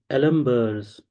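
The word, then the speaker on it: d'Alembert: then the important principle this is pronounced as the alumur principle first what is virtual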